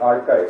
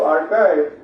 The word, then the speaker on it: arXiv: research papers available on websites like Archive, right? It's spelled ARXIV. But if you go to Archive, you will find the top research papers available for free there, right?